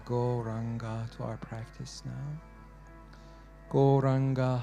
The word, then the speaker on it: Gauranga: Gauranga has 4 syllables. Go, Ra, Anga.